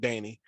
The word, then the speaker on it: Dania: from the area so we call it Danny um it is then yeah well yeah we we probably the only city in Florida that mispronounces the name of our city on purpose I don't know why it's just clear as day it's day in your Beach but we say Danny it's just always been